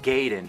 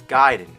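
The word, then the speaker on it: Gaiden: here we're talking ninja giden everyone always said Ninja gayen but I know for a fact it's giden you know where I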